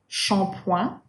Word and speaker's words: shampoing: So make sure not to pronounce them the English way with a T sound before it. It's not ch, like chip, right? It's not like this. It is just sh, right?